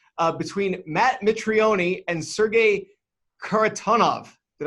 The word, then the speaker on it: Mitrione: all the time so Mitrione it's a silent E is favored at minus